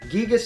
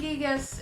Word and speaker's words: Giygas: but everybody calls him Giygas because Giygas is kind of stupid, so I've been swapping back and forth on purpose. And Giygas is more of the Japanese pronunciation. Yes, Giygas is how it'd be phonetically pronounced.